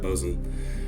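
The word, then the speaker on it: Boatswain: poem about his dog bosain bosen I think I think you actually pronounced that bosen he said he had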